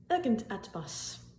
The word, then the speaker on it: Irgendetwas: Irgendetwas. Irgendetwas. Irgendetwas. The main point here is the IR at the beginning of the word.